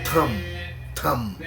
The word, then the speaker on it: Tom: Por ejemplo, si yo escribo en inglés, por ejemplo, Tom, no T-O-M, en inglés Tom, pero se pronuncia Tam, con la A.